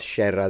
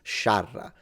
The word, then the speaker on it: sciarra: scerra, lite, No, it's not scerra. That's wrong. It's spelled correctly. It's sciarra. The A is pronounced A, not E.